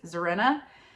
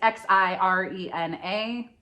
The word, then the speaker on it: Xirena: Next one I've also mispronounced, and I think I'm going to say it correctly, is Zirena. It's Xirena. I had to go to Google.